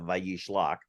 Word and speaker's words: Vayishlach: So Vayishlach, the name of the Torah portion, the Vav at the V sound at the beginning of Vayishlach, it just means and.